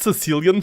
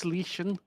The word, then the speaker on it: Cilician: Yeah, I always think it's Sicilian fleet. Yes. Cilician fleet. I learned how to say it once, and I've been like, actually, it's Cilician. And I would have always said Cilician.